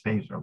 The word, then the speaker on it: Feser: It's pronounced Phaser, but it's spelled F-E-S-R. So I keep calling him Feser, but it's not. It's Phaser, like Star Trek Phaser.